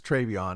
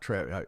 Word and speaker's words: Treyvion: huge win i apologize i pronounce it's treyvion not tre i apologize i pronounced